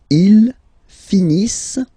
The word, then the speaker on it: finissent: Ils finissent. So remember, as usual, when we've got the verbs ENT not pronounced.